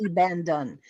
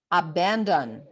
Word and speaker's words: abandon: And then it says to me, try to put emphasis on this voel sound. So, it's not I abandon, it's abandon.